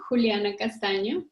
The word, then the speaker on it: Juliana Castaño: pleasure to be with all of you you pronounce very well my name juliana castano how is everything going with you these days